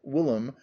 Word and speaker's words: William: Finally, he defeated the unlucky Charles with the aid of William, which the Curé pronounced Willem, the Conqueror, which is why so many English still come to visit the place.